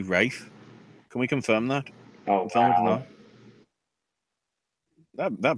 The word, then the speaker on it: Ralph: great finds its spelt although it's spelt Ralph does that mean Ralph the dog from bloomin The Muppet Show is actually Rafe can we confirm that